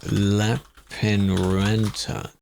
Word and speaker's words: Lappeenranta: How to pronounce Lappeenranta?